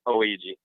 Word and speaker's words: Ouija: And the way, Yes, sir, pronounced Ouija.